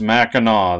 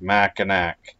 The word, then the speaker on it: Mackinac: Island Michigan and yes I believe it is pronounced maau that's what I was told even though it's spelled like mac andac since you were not allowed to drive to